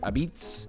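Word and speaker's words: apizza: Number 29, Connecticut, which they call this New Haven pizza, but they also pronounce it Abitz.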